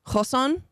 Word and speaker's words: Ghosn: in my life and I should know Carlos gone his his name is g h oos n uh it's pronounced Kon but we will be pronouncing it like most